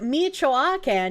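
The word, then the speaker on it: Michoacán: It's pronounced Michoacan.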